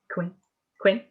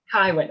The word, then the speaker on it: Kywin: Quinn? Kywin. Okay, I love that. Just as it's spelled.